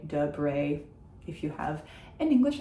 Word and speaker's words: Debré: And then Debré, the first is an sound because it doesn't have an accent on it, and the second one has an accent on it, so it becomes an e. See, you're getting the hang of it. That's why it is Debré and not Debre or something like that.